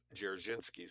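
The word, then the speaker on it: Dzerzhinsky: M lutzky three of jerichinski's four assistants sometimes is claimed jersinski was a Jew I think he was a Polish whether or not he was a Jew d-z-e-r-z-h jerichinski it's hard to pronounce moving on to 558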